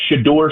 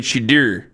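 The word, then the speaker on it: Shedeur: than to hear him say the name of Shador Sanders is the correct pronunciation. Nick, you're mad at him saying Shadur.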